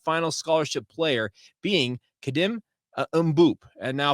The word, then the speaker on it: Mboup: scholarship player being kadim umop and now if I'm pronouncing that incorrect ly I am going off what I saw on multiple videos where he pronounced his own name now he is a